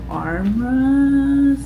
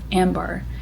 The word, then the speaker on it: Ambar: at this place called Armras. I'm saying it wrong. It is called Ambar in Capitol Hill, and